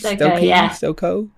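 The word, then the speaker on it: Stokoe: Meeting Matt, who's the writer, uh, Matt, I want to pronounce his name right, Stokoi. Stoko Stoko.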